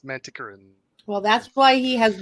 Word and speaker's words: Manticoran: guide to the narrator and said it is pronounced manticoran well that's why he has libya 9 people